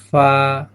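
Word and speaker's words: فاء: ফা, এখানে এভাবে উচ্চারণ হবে, এক আলিফ টান, ফা। একটু হালকা করে দেখবেন, বাতাস বের হয়ে আসতেছে, ফা।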